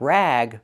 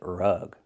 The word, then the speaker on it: rug: Use a short uh sound like cup and up. R-rug, not rag, but rug.